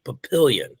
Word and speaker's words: Papillion: They're doing an outdoor dual meet tournament on a baseball field in Papillion. Yep. That's how you pronounce that town.